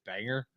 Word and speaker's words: Bangor: like oh you just you put the wrong emphasis on the wrong syllable and I'm sure Ken's like uh it's Banger yeah what's uh what's uh